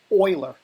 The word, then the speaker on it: Euler: here sorry in curves this is pronounced Euler filter not the Euler filter people get mad at you for calling it the EULA filter professionals book it's called